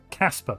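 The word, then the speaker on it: Kacper: We got nanomechanics from uh Kakpa Dabikovski. I might have mispronounced your first name. I apologize. I tried. Oh, is that Casper? That's Casper, isn't it? Not Kakper.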